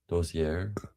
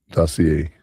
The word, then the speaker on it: dossier: Doier. Dossier.